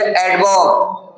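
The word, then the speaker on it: adverb: फिर एडवर्ब। इसमें भी आर साइलेंट हो जाएगा।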